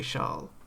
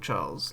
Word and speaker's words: Charles: And he said, "I don't care if because like all the French or Monica, you know, French peeing people around him will say Charl." Yeah. But then he doesn't mind being called Charles L. Clerk.